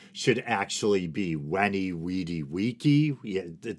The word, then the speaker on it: veni vidi vici: Latin I believe the the V should be pronounced as a w so as ridiculous as